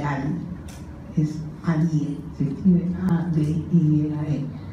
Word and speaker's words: Adie: Y esa se llama la pupila de Ali, es ADIE, se escribe A-D-I-E-A-E, la pupila de Ali, y esto es por una lesión del ganglio ciliar.